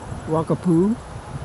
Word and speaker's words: Wakatipu: Here's Lake Wakapitu, or as I've heard it pronounced, Wakapu.